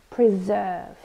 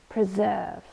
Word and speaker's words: preserve: citizen okay last word preserve this is a verb and two syllables we stress the second one preserve and it means to